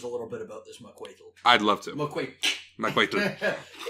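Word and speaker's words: macuahuitl: It's at the back of your yeah, you put your tongue at the front of your teeth and you make a tl sound. So it's not macuitl, it's macuitl.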